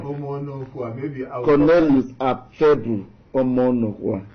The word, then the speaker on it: Omonokhua: Have I pronounced that name well? Omonokhua. Omonokhua.